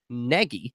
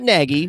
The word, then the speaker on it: Nagy: to Chicago just at least helped out Matt Nagy not naggy which which is weird for me saying Negi I know we pronounced a lot of people pronounce that name